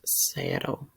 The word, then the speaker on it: cero: And it's pronounced cero.